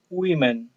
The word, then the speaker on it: women: persona tipo women women quiero que notemos que la pronunciación del plural de mujer en inglés aunque acá no hay una letra ahí pero se pronuncia women bien bien child children